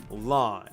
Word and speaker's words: Lan: of Friendly Fire themself, Lan. And fun fact, though Lan means mist in Chinese, it is pronounced the exact same way as the word blue.